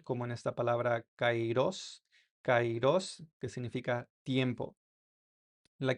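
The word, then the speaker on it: καιρός: Y la capa se pronuncia como nuestra k en español, como en esta palabra cairos.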